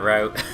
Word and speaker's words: route: I don't know how to say that word, route or route. As an English pronunciation, I don't care. It's a route. Route. Route, route. Tomato, tomato. Route is a verb. Route is a noun.